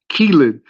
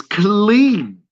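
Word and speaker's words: Killeen: It's not Keelan, it's Clean, Texas, hosted by my boy Red Hall.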